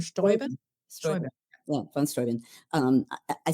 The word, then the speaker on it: Steuben: Is this, how do you pronounce it? Is it von Steuben? Steuben. Steuben. Steuben. Yeah, von Steuben.